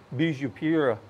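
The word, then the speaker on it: beijupirá: to pronounce this but bisupira is the way that they pronounce the name of this fish it's Portuguese I guess for tasty fish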